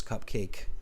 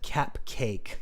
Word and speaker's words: cupcake: India we pronounce it cap cake yeah it's cup because of the cup it's shaped like a cup and then cake right so cup cake